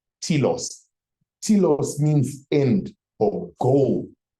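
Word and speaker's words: telos: word that we always use is uh pronoun is spelled t e l o s TS TS means end or goal so the goal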